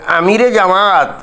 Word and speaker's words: আমিরে জামাত: But Wakeruzzaman কিন্তু বারবার বলতেছিলেন যে আমিরে জামাত, মানে এটাই হলো সহি শুদ্ধ উচ্চারণ।